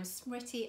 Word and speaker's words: Smriti: If it helps, I always say that it rhymes with pretty and witty, also intelligent, beautiful, any other compliment you want to give, and if you remember that, you won't go wrong.